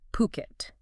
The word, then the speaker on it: Phuket: The correct way to say it, the local way and how we'll say it, is Phuket. Phuket. Like pool without the L, then ket. Phuket.